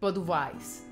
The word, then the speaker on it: Budweis: I'm terrible in pronouncing Czech names, but České Budějovice is pronounced by Germans in the past. It was pronounced as Budweis.